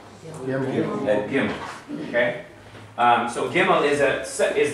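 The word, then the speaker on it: גימל: Almost becomes fricative in the back of the throat, like you're kind of vibrating in the back of the throat. Gimel. Okay? It's not pronounced like that among Israelis today, though. Again, unless you're Yemenite.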